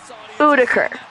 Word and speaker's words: Udiker: That's how you pronounce it. Udiker.